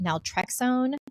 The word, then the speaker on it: naltrexone: And then she goes, what I'd also recommend is putting on this, it's pronounced naltrexone.